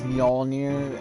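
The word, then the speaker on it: Mjölnir: I'm sorry, that's one of the things that bugs me with how people pronounce his hammer. It's Mjolnir, and a lot of people do not say it like that, and it actually bugs me.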